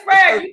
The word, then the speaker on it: Sprague: It's Sprague.